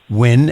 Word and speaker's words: Nguyen: remind our audience Our Guest has been Yasmin when and that's spelled n g u y e n a little different than you would think from the way I'm saying it his book is the